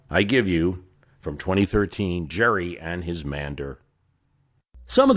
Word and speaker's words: Gerry: Not only has he lost his political dignity in history, but But Gerry lost the hard G in his name, and gerrymandering is now an international term for a crime against democracy.